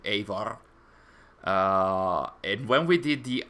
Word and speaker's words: Eivor: I still tend to say Eivor while it should be Eivor.